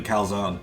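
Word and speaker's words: Colzione: Her last name is basically Calzone. This way, please? Tressa. Good luck out there. Thanks. Ollie. I didn't know that. Cool. And now for our next entrant, Tressa Calzone. Calzone! That's how you pronounce it.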